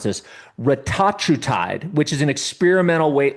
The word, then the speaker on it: retatrutide: And last but not least, I think this is a peptide, but I've been hearing about let me pronounce this, retatrutide, which is an experimental weight loss and metabolic drug being developed by Eli Lilly.